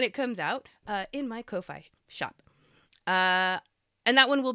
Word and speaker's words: Ko-fi: Ko-fi is pronounced coffee, yes, because it's supposed to cost about as much as a cup of coffee.